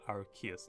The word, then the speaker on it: Arceus: now since the official name for that, or pronunciation for that is Arceus now.